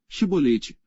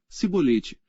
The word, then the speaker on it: chibolete: não então lhe diziam dize pois chibolete porém ele dizia sibolete Por que não o podia pronunciar bem então pegavam dele e o